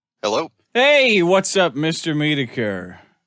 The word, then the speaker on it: Metokur: Metokur, but Metokur, you know, it's meant to be mispronounced. It's a play off mediocre.